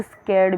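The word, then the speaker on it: scared: उसने मुझे डरा दिया, ही स्कैर्ड मी, ही स्कैर्ड मी। ओके, ही स्कैर्ड मी। यहाँ पे देखो तो किस तरीके से आर साइलेंट कर रही हूँ मैं यहाँ पे।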